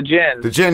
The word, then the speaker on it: Djinn: I wanted to check out the Gene. Is that how you say it? Oh yeah, the Djinn. The Djinn, yes. You don't pronounce the D.